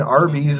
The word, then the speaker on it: Arby's: If that's like, true, I was like, man, that's like learning Arby's is really just pronounced the letter R and B's, and the A and Y is silent.